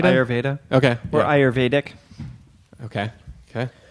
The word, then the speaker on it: Ayurveda: with me today how do you say it ayurveda ayurveda okay orur dick okay okay so so this